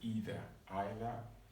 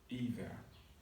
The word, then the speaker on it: either: Some people call it either, or either. It's correct. The choice is yours.